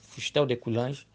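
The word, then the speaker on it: Fustel de Coulanges: cidade antiga do Historiador fustel de cange a pronúncia francesa fustel de cange em que ele diz na página 45 seguinte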